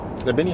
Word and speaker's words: Trebinje: Trebinje, is that how you say it? Exactly. Okay.